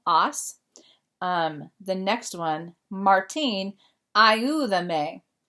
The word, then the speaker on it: ayúdame: They added the accent because ayuda is 3 syllables. And if it has 2 or more syllables, you have to add the accent mark over the stressed vowel. So it would normally be ayudame, ayúdame.